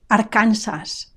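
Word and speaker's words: Arkansas: it said Arona Arona Aransas Aransas notice the stress it's on the second last syllable Aransas and notice also the final s i don't drop it Aransas Aransas California California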